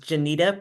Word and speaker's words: Jeanita: um just real quick my name is pronounced Janita pet and last name is